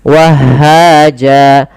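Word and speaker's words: وهّاجا: Akan tetapi ketika di akhir bacaan dan waqaf apabila ada fathatain bertemu alif di akhir bacaan maka dia diiwatkan, diganti menjadi panjang sebagaimana mad thabi'i. Jadi bentuknya seperti ini. Wahaja.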